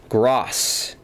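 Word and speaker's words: Groß: give him a yellow that letter in German is pronounced with an S so his name is not is gross not Gro thank you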